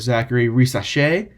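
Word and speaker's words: Zaccharie Risacher: you can go with Zachary race that's how you pronounce it he's French uh you can go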